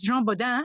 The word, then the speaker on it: Jean Bodin: they were busy talking about science of course Jean Boda and your pronunciation was perfect he's principally known as a